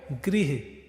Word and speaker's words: गृह: अब ग के नीचे लग गया तो ग्री, न के नीचे लग गया तो नृ। उच्चारण पे ध्यान दीजिएगा, है ना। ग के नीचे लगा तो ग्री, न के नीचे लगा तो नृ, गृह, नृप, नृप मतलब राजा।